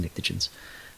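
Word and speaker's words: pnictogens: the oxygen group uh the pens actually it's a silent P they're just nicens uh for nitrogen but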